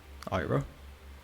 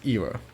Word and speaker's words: Ira: Oh, pronounced as Era. Okay, Era Vanora.